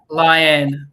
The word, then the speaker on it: Lian: Um and now you're going to feel awkward cuz I'm going to tell you you did say my name wrong. It is Leanne Leanne.